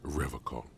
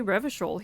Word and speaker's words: Revachol: He pronounces Revocall with a hard K. Yeah, what the fuck is up with that? I noticed it too. I was like, wow, he didn't say Revachol.